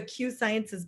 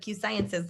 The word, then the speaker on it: Q Sciences: By the way, she was wearing like a Q Sciences polo, being all professional. You have permission to pronounce our company name wrong. Call it Q Science instead of Q Sciences, like Brandon Stevens.